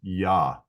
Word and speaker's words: Yah: The pronunciation is Yah.